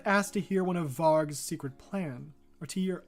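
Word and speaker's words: Vargu: called v-a-r-g-u but apparently it says the U is silent that's really going to bother me okay the leopard asked to hear one of varg's secret plan or to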